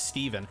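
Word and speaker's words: Stephen: every time I see a name spelled S-T-E-P-H, like Stefan, I had a patient whose name was spelled like Stefan, and I called him Stefan. He's like, it's Steven. I'm like, then why the fuck isn't there a V in your name?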